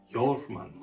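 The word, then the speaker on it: Jörmungandr: We are looking at how to pronounce Jormungandr. Jormungandr.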